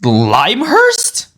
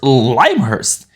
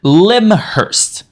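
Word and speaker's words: Lymhurst: Lush Forest if you're based in limehurst it's pronounced limehurst who who knew it was pronounced as limehurst every single player I've known for the past P four years calls it Lim Hurst Here We Go Again Island for your guild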